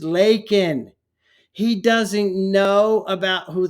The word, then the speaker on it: Laken: say her name and what does he say Lincoln Riley like a like a like is Abraham Lincoln right her name is leol he doesn't know about